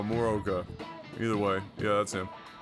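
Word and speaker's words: Morooka: I thought the two O's were pronounced for some reason. Mooroka. No, Moroka.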